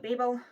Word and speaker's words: Babel: I've decided I'm going to call it Babel. I'm not doing the Babel Babel thing. To me, it is Babel because that is how you pronounce it. in British English.